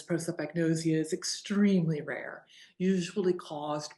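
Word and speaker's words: prosopagnosia: Pro like you're for something. Soap, nice and clean. You're for cleanliness. Agnosia, there's a lot of those. That's the easy part.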